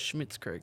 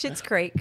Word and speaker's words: Schitt's Creek: it was Schmitz Creek.